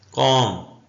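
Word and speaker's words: calm: जो होता है बछड़ा वो कौम एल साइलेंट है काम काम का मतलब होता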